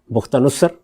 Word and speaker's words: بخت نصر: بابل کی حکومت، اچھا، بخت نصر، اس نے حملہ کیا، کسی اور دین کے ماننے والے، جس کو نبو خد نصر بھی کہتے ہیں، تو دونوں تلفظ اس کے ٹھیک ہیں۔ تو یہ جو شخصیت